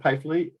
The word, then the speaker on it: Pfeifle: Again, my name is Pfeifle. And I tell people that it's like a pie they eat and a flea on a dog. So the first F is silent.